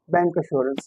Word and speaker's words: bancassurance: जबकि इसका actual pronunciation बैंक अशोरेंस है।